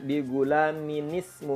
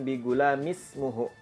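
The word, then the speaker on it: بِغُلَامٍ اسْمُهُ: di Quran Mushaf Madinah bacanya digulani nismo uh bukan di Ghulam ismuhu itu keliru contoh yang terakhir di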